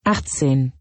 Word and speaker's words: Achtzehn: It is pronounced Achtzehn.